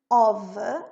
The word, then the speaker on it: of: Lembra que of a gente pronuncia com V.